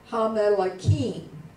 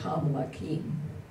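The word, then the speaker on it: הַמְּלָכִים: We just said, ha, you know, you had one there in the middle, ham lakim. And actually, in Israel, you really can't hear that double. They would probably say it more like ham lakim. They say it so fast that even if it were doubled. You can't hear it.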